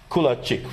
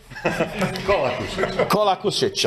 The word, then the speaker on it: Kolakušić: And another colleague from Croatia, Kulačić, right? Do I pronounce it correct? Right now, not. Kolakušić, I know it's tough with all these names.